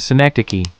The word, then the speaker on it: synecdoche: S-I. Nick. Duh. Key. Fantastic. You're mastering the pronunciation of synecdoche.